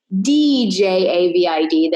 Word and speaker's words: Djavid: Just my first name, my last name, and my last name is Djavid, and the D is silent.